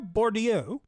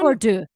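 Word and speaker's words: Bourdieu: So cultural capital is a sociological concept introduced by Pierre Bordio. I believe I'm pronouncing that correctly. Uh referring to the non Bordeaux Bordeaux referring to the noninancial value something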